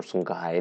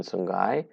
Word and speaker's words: Songhai: and we also have the Songhai, or Songhai, the other pronunciation Songhai.